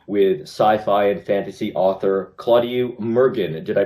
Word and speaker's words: Claudiu Murgan: ottawa book expo with sci-fi and fantasy author claudio mergen did i pronounce that correctly perfectly thank you okay all